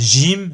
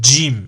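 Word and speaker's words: جيم: le Jim Jim souvent il y en a qui le disent gym gym sans le D devant Jim et Najim bon les deux sont juste mais préférable de prononcer avec le dé le Jim Jim Jim Jim ensuite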